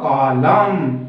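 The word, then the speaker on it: column: क्या है हमारा एम, तो हमारा जो प्रोनंसिएशन उच्चरित होगा वो होगा कॉलम, नॉट अ कॉलम, ठीक है, एन की प्रोनंसिएशन होगा एन हो जाएगा ना, मूक साइलेंट।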